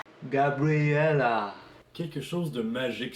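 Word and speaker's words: Gabriella: enfin aux mails excuses je croyais qu'on disait gabriel là mais ça se prononce gab real a quelque chose de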